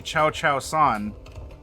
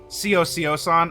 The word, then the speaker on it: Cio-Cio-san: So chat, if you want to push your glasses up and go, actually, Cio-Cio-san, all right.